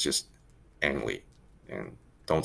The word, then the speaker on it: Ang: say his name sort of correctly it's just angry and don't say only just angry now in